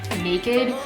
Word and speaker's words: NA-KD: I recently got from Naked. It's spelled N-A-K-D, so it's Naked without the E.